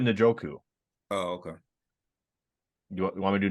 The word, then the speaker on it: Njoku: I thought you said Noku. You said Noku? Am I saying it wrong? Nachu? Njoku, right? Njoku. Njoku or Noku? I'm sorry. David Njoku.